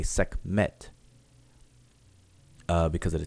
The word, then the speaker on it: Sekhmet: her name, we say Sekhmet because of the T. We don't say Sekhmet or Sekhemet. We just say Sekhmet because it's 2 syllables, or keep it 2 syllables.